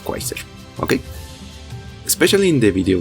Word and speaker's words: Quasar: And yes, I know it's pronounced Kaiser. I just like the sound of Quasar, okay?